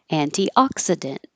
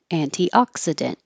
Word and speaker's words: antioxidant: two three four five antioxidant antioxidant and I'm going to put that little Mark by the K to remind you that you don't release the K just hold the tongue in the K position and anti can also